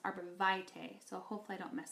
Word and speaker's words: Arborvitae: It is called Arborvitae, and I used to pronounce it Arborvitae, but I found out it's actually pronounced Arborvitae, so hopefully I don't mess that up too much for you.